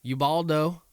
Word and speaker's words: Ubaldo: I think it's Ubaldo, not Ubaldo. Ubaldo.